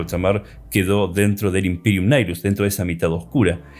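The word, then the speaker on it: Imperium Nihilus: Algunos le dicen nigilus, la correcta pronunciación es Imperium Nilus.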